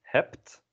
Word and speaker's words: hebt: You have is either jij hebt or u hebt. Jij hebt, u hebt. And notice that the B at the end of the word is pronounced as a P.